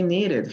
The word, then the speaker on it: needed: En la mayoría de casos no se pronuncia la E, como en este caso. Hurried, locked, stopped. En ninguno de estos casos se pronuncia la E. Pero aquí, needed. Sí se pronuncia. La pregunta es ¿por qué? Why? Why do we do that? Ok, en este caso es porque acaba en el último sonido es una D.